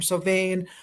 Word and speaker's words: Samhain: Halloween, or Samhain, or Sovain, or for my baby boomer friends, Samhain. They're all fine pronunciations. Samhain or Sovain harkens back to the Celtic origins of that word.